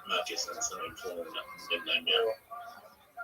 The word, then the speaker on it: Macca's: No, you're pronouncing it wrong. It's Marcus and some informal nickname now.